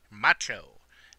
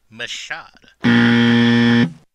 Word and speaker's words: Michaud: clear up is that my name is pronounced macho the D is silent it is incorrect to pronounce my name is Machado and whoever decided to